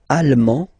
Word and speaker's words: allemand: L'Allemagne, allemand, allemande. Okay, same thing here. En, okay, you don't pronounce the final D, but then you pronounce it here for the feminine form.